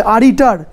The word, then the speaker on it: Aritar: लिखा हुआ था ARITAR, ये जगह का नाम है आरिटार, लास्ट में आर होगा तो प्रोनाउंसिएशन नहीं होता इसलिए सो आरिटा बोला जाता है।